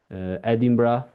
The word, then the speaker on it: Edinburgh: Maybe because also it's like depicting Edinburgh. I don't know if it's the Yeah. right pronunciation.